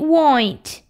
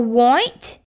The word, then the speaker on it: right: We already say it right. And there's another word. Right. Does right have the letter W in it? How should I know? We not know how to spell white.